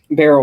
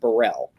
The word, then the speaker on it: Burrell: Burt Burrell it's pronounced I was calling a barrel for the longest time and it turned out to be pronounced Burrell and at the Burrell